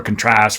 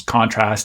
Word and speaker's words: contrast: But the verb versions of these words have stress on the second syllable, and the noun versions of these words, the nominal versions, have stress on the first syllable, so on and so forth.